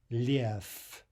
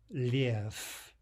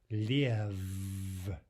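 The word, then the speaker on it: лев: If we pronounce this without devoicing, it would be liev, right, with the vibration. But liev is incorrect.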